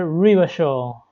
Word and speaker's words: Revachol: Revachol is pronounced Rivachol.